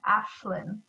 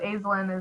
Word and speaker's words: Aislin: uh there is so if you put my name into google it'll be pronounced ashlan which is the celtic way of pronouncing it but uh my parents stuck with the way it sounds when you read it it's the way it sounds so azlin is the way to go but to keep it